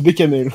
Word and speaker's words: béchamel: Ça se prononce bécamel.